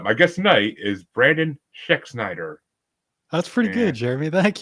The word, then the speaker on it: Schexnayder: guest tonight is Brandon schexnider that's pretty good Jeremy thank you you're Shaq Snyder you're right hey I did okay you gotta remember the a is silent but oh kind of